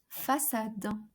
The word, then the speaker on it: façade: Okay, so it alters the C to be pronounced as S.